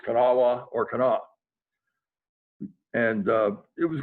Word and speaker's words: Kanawha: It's pronounced Kanawha.